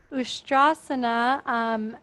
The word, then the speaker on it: Ustrasana: Ustrasana, notice that there's a mark underneath the S, so it actually sounds like sh.